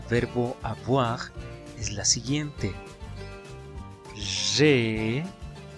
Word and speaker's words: j'ai: J'ai. Recordemos que la A y la I suenan E y la J suena G. Por esa razón, la pronunciación de la conjugación es j'ai.